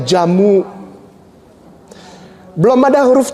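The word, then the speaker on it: djamoe: Ada ada D J E D J A M O E bacanya jamu.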